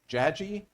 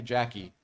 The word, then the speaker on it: Jagi: So, trends in urban fantasy, I believe that it's pronounced Jagi? Yes. Okay. I always want to say Jackie.